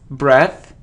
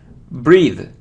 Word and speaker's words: breathe: pronounce it as breath breath so if we have e in the end so it's breathe if it's without e